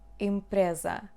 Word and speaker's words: empresa: Empresa, empresa, empresa, pr. Again, the letter E we do not hear.